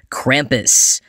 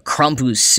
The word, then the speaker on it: Krampus: increasingly in recent years, Krampus. Or Krampus, if I were to pronounce it slightly more correctly.